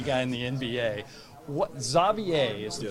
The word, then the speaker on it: Xavier: So it would be Xavier here, but it's part like French, part Flemish, so that's why they pronounce it Xavier. But I can see why people always call me Xavier, Javier, all these other things.